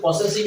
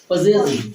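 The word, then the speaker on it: possessive: এস আই ভি ই উচ্চারণটা কিন্তু পসেসিভ নয় টিসিকা কি হবে পজেসিভ পি O double S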